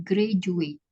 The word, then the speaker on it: graduate: Contohnya Ah ya, adalah graduate, jadi bukan hmm. graduate, tapi D-nya itu dibaca J, jadi graduate.